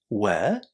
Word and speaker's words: work: So WOR followed by another consonant is basically pronounced as where, the past plural form of to be, and then you simply add the ending. In this case, you would say work, work, work.